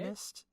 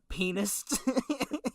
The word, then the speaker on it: pianist: Pianist? Yeah. No, it's not penist.